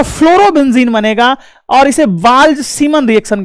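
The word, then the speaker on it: Balz–Schiemann: Z silent है बट मैं पढूंगा नहीं तो समझ में कैसे आएगा? नहीं तो बाल-बाल पढ़ेंगे हम लोग ना। बाल्ज सीमन रिएक्शन के नाम से जाना जाता है।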